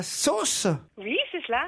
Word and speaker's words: Sos: Laetitia est à Sauce. Oui, c'est cela, un petit village qui se prononce sauce et qui s'écrit SOS.